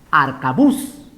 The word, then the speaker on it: arcabuz: sea la tónica pongo se pronuncia arcabuz qué es un arma antigua no se ponga arca bush si puedo acá arcabuz la forma correcta es arca bus por lo tanto su